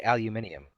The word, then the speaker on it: aluminium: They also say aluminium. Still trying to figure that one out. Aluminium. No, aluminium. Where is that extra syllable coming from?